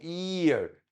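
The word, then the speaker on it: ihr: شويه اسمه اير اه والاتش هنا سايلنت ما تنطقش الاتش الاتش لو جه وراها حرف ساكن كانها مش موجوده يبقى اي وطول الاي شويه عشان عدت خدت مساحه نطقها ومساحه نطق الها الاتش ديت فما اقولش اير اسمها اي والار وارهاش حاجه كانها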